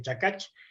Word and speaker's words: Chikach: crear una marca comercial, que es Chicach, que significa, es en palabra quiché, que significa canasto. En idioma quechí se dice chacach, y en otros idiomas